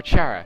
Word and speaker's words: Chara: Like I get it, like it's spelled like Kara as in character, but it's either pronounced like Kara or Chara.